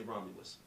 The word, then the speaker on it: Romelus: and and you say Romulus I say Romulus even though it's an e yeah even though it's